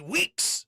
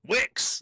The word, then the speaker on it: Wicks: only to my man, Sidney Weeks. I meant Wicks.